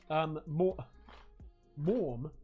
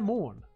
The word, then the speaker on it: Morgan: Last name pronounced Morm, but spelt Morgan. Morn.